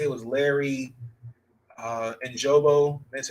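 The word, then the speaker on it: Ogunjobi: They lost, I want to say it was Larry Ojobo.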